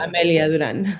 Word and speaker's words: Amelia Durán: We do try to stay true to our Spanish pronunciation, both in our name as an organization and me as an individual.